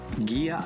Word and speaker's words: Gigha: Gigha Island, as we've learned to pronounce it since this episode was shot, is one of the small isles of the Inner Hebrides.